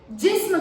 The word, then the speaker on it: GESMM: वो कीवर्ड है GESMM, जिसको हम प्रोनाउंस करेंगे बहुत ही अच्छी तरह से याद करने के लिए जिस्म करके. ठीक है, क्या है?